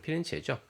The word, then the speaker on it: 피렌체: 일반적으로 이태리 중부에 있는 피렌체, 영어 발음은 플로렌스고요. 그 현지 발음은 이태리 발음은 피렌체죠.